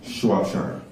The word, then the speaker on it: Shropshire: Shropshire. Shropshire is spelled S-H-R-O-P-S-H-I-R-E.